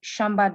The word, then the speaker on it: Shamba: agri agri-tech startup uh called chamber that she shamba data yes sorry for the uh mispronunciation yeah so they're gonna